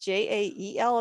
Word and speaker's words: Jael: And so my husband had read about a name in the Bible, which I think is Yael. It's Jael.